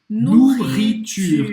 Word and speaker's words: nourriture: Presta atenção que o E no final ele não vai ser pronunciado, tá? E não é porque tem dois R's na palavra que você vai fazer dobrado. Não. É um R só.